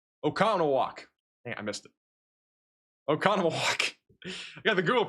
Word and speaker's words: Oconomowoc: Oconomowoc. Got the Google pronunciation here for a reason.